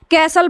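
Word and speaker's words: castle: आपका अगला इसमें देखिए इसमें एस टी एल ई आया है तो य हमारा टी को क्या कर रहे हैं हम साइलेंट कर दे इसको हम पढ़ रहे हैं क्या कैसल पढ़ रहे हैं ठीक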